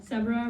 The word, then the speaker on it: Sebra: See rhymes with zebra.